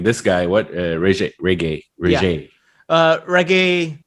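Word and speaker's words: Regé: Reggae is how you pronounce his name, I believe.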